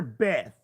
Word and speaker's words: Beth: attached to him and we call her Beth rhymes with meth and I burped so